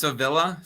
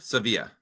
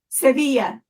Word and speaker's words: Sevilla: And yes, is it pronounced Seilla? Sevilla Sevilla Yasi B.